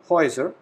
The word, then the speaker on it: Häuser: Houses, the Häuser, plural form.